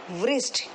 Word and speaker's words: wrist: जहाँ हम घड़ी पहनते हैं बेटा उसको हम क्या प्रोनाउंस करते हैं बेटा? व्रिस्ट।